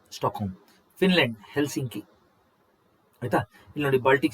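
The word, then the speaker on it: Stockholm: Norway Norway Oslo ರಾಜಧಾನಿ Sweden ಸ್ಟಾಕ್ home ಅಂತ ಹೇಳಿ ಉಚ್ಚಾರಣೆ ಮಾಡಬೇಕು ಸ್ಟಾಕ್ ಹೋಮ್ ಆಯ್ತಾ ಎಲ್ ಸೈಲೆಂಟ್ ಇಲ್ಲಿ ಸ್ಟಾಕ್ ಹೋಮ್ ಫಿನ್ಲ್ಯಾಂಡ್ ಹೆಲ್ಸಿಂಕಿ ಆಯ್ತಾ ಇಲ್ನೋಡಿ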